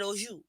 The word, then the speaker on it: oju: Then you got oju. It's spelled O-J-U, but it's pronunciated O-J-O-O.